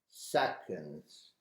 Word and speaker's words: seconds: we call it seconds it's a difficult word to pronounce because it has a schwa sound inside so we say second seconds during my previous course